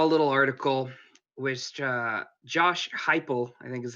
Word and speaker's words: Heupel: This week I saw a little article which Josh Heupel, I think is how you pronounce his last name. Heupel.